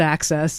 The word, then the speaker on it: AHCCCS: system but we all just lovingly call it access okay so for people that don't know it